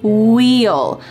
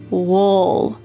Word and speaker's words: we'll: You can say this contraction very clearly, we plus will is wheel. But in fast American English, we often reduce this in a relaxed way and we say wool.